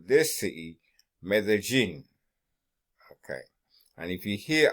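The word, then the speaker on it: Medellín: They pronounce the double L as a J, okay? Like Medellin to you, to a Colombian, it's Medellin, okay? As in gin, okay?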